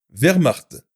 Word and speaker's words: Wehrmacht: W et E font le son V, comme dans Wehrmacht, ou ouais, comme dans webcam. W et I, oui, comme dans Winchester.